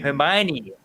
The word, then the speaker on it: Hermione: How do you say it? Is it Hermione or Hermione? Hermione with an N. Hermione. Yeah. Hermione. I've been saying it wrong for like ever.